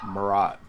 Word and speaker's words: Marat: quarter century and you don't know how to pronounce his name I know it's Mariah yeah Marat and it's Walter Simonson fine it's fine whatever